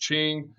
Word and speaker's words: Qing: Now, after them, all right, is the Qing Dynasty, spelled Qing. It's pronounced Qing.